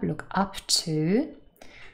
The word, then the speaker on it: look up to: And we want to focus now on our phrasal verb, look up to. And so this phrasal verb has two particle, and the first one is stressed.